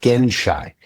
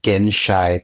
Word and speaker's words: genshai: to do was I learned this word called genshai and it's spelled g e n s h a i.